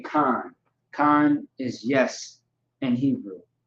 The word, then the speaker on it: kan: You would say kan.